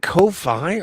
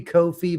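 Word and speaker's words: Ko-fi: I I either way I think it's supposed to be Kofi, but it but it's spelled like high five.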